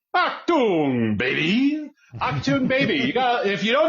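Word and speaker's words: Achtung Baby: by the band U2, I believe it is pronounced Achtung, baby.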